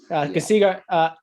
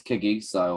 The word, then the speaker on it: Kagiso: Kasigo, Rabada. They've spelled his first name wrong here, I think. Rabada. Kagiso. That's spelled right. Isn't it Casigno? No, it's Kagiso or something like that.